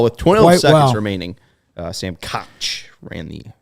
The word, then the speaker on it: Koch: 12 seconds remaining, Sam Koch ran the. I believe it's pronounced Cook.